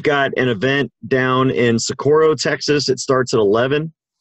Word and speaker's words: Socorro: Tomorrow, we've got an event down in Socorro, Texas. It starts at 11, or Socorro, if you want to say it like the Spaniards do down there.